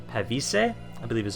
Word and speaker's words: Pavise: You don't have stakes, but I do have them on the it's supposed to be Pavise. Pavise, I believe is how it's supposed to be pronounced.